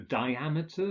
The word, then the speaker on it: diameter: migratory aberrant being migratory with words ending in meter the stress is on the second mm syllable so diameter barometer chronometer and finally we have